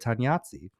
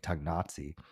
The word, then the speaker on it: Tognazzi: So what's the correct way to say the it? way I just said it, Tognazzi. You said with a hard G. Yeah, because So how were you saying it? I think it was saying Tognazzi. But there is no G in this word.